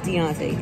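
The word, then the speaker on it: D'onte: Yes, it's D apostrophe O N T E. Yes, and it's pronounced Deontay.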